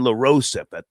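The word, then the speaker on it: LaRosa: She uh sent a statement to uh Lauren Larose, that's how you say her name, at the the Breakfast Club asking people to just respect her privacy.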